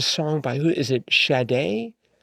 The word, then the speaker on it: Sade: Is it Shade? Shade. Is it pronounced? Sade. For some reason, I want to pronounce it with a with a a sh sound. But anyways, sade, I think.